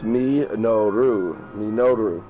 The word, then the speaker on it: Minoru: It'll sound like a robot, but probably still, you can hear how it's pronounced. But it's Minoru.